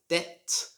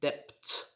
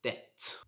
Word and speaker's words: debt: it is yes obviously it's the silent b so this should be pronounced like debt not dept should just be pronounced debt similar to this word